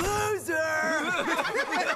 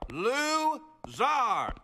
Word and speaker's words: Lou-Zar: Loser! It is pronounced Zar. Lou-Zar.